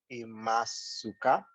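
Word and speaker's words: いますか: You don't need to emphasize it. Imasu ka? Yes, yeah. How do I know when not to use that? If you see su, shu, ku, you don't necessarily have to pronounce them.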